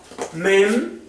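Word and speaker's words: מ: la Met l l la l mem m mem y también está mem sofit ambas son men m m nun y nun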